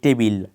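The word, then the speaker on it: table: না পিজ্জা এরপর খুব একটা কমন শব্দ যেটা টেবিল টেবিল এই শব্দটা ব্যবহার করে থাকি কিন্তু এটার আসল উচ্চারণ টেবিল না টেবল টেবল এই শব্দটা আগের শব্দটার সাথে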